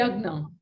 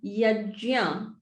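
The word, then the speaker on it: yajña: we say yagna. Yeah. So it's yajya.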